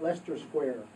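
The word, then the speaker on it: Leicester Square: Another tourist tip is the discount ticket um box office at Lester Square. And Lester, believe it or not, is spelled L E CR, pronounced L E S T. Lester Square.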